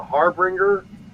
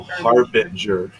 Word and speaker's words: harbinger: to be the and i can never pronounce this right the harbringer of doom oh harbinger a harbinger of doom